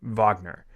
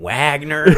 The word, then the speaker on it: Wagner: uh German composer and you can tell based on the fact that it's spelled with a W do you mean Wagner yeah uh a lot a lot of a lot of uh V's replacing W's over here yeah um yeah and